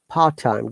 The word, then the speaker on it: part time: you know this rule once again the rule says if there is a consonant in that of the word and the next word starts with the similar consonant bring these two words together and remove one of the letter it happens most of